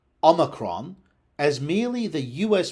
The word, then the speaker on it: omicron: The overriding default rule in Anglo-Latin is that unstressed syllables are reduced, which means you would expect pronunciation C or F rather than A or E. You would expect Omicron rather than Omicron.